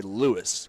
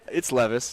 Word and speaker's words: Levis: levis a lot a lot of people say louis because they you see lewis a lot you don't see levis a lot and the v kind of looks like a w and they over so i it's levis and i just want to make that clear